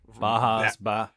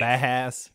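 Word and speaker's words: Bauhaus: Bajas, right. Bahas. Yeah. I'm sure it's Bahas.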